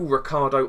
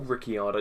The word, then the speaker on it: Ricciardo: Honda surprisingly as well Daniel Ricardo or ricciardo depending on the pronunciation of your area in the world it has qualified